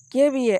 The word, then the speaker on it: kVA: இந்த டிரான்ஸ்ஃபார்மரை கேவிஏ, அதாவது 100 kVA 110 kVA இப்படி தான் ப்ரொனவுன்ஸ் பண்ணுவாங்க கேவிஏ.